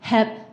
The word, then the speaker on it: GEP: the Spanish language, it's HEP for the acronym GEP, which is a silent, or not silent, but G is pronounced H in Spanish.